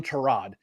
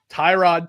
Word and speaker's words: Tyrod: I'm not calling him Terrod. Tyrod Taylor.